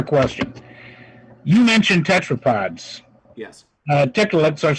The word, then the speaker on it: Tiktaalik: What is the falsification process you went through to falsify whether or not Tiktaaliks are evolved from fish? It's pronounced Tiktaalik.